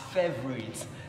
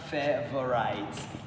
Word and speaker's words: favorite: This word is pronounced as favorite, not favorite, because there is no diphthong in that word.